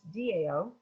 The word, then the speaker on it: Tao: perfect yeah and so the dow which is spelled tao even though it's pronounced dao is a concept that